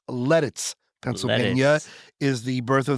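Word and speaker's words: Lititz: E Tit TZ and it's pronounced like lettuce. It's lettuce.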